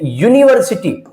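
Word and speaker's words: university: यूनिवर्सिटी। यू हमारा क्या है? यू हमारा है दोस्तों यहां पे वोवेल। यू तो वोवेल है लेकिन इसकी जो साउंड आ रही है वो कैसी आ रही है? कोसोनेंट वाली।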